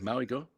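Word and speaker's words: Mauigoa: Maui Goa.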